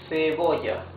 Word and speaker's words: cebolla: Cebolla. Cebolla. Cebolla means onion. You see, it's the soft sound.